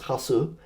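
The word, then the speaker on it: Hausu: And that is uh so the English title is House. uh but pronounced in is as Hasu and uh it's directed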